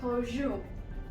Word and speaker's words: Peugeot: The next car company, it's quite confusing and I generally used to pronounce it wrong, but it is Peugeot. Peugeot. Now, I know many people say it as Peugeot, Peugeot. No, it's Peugeot.